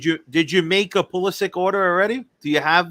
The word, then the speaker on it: Pulisic: postage right right but he actually says pulisic so with a hard C so I'm yeah what